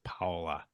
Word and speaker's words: Paola: And I just had to remember that it's not koala. That is correct. It is not koala. It is Paola.